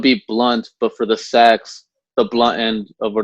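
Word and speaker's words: seax: And then the shorter weapon was called a sax, or it's spelled S-E-A-X, like Sikhs. Okay. But it's pronounced sax usually.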